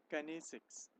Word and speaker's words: kinesics: Kinesics. It's known as, it's pronounced as kinesics.